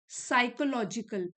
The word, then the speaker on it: psychological: And validated bye contemporary साइकोलॉजिकल, P silent है, साइकोलॉजिकल research.